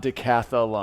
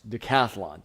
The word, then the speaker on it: decathlon: It's not decatholon. It's not decatholon. I thought it was. In fact, I made all this really cool like visual like graphic stuff about decathlon. And then that's not how you spell it. It's decathlon.